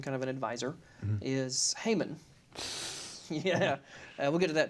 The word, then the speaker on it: Haman: you'd consider him kind of an advisor is Haman yeah we'll get to that too yeah uh Heyman as we traditionally pronounce it and Heyman hated the Jews he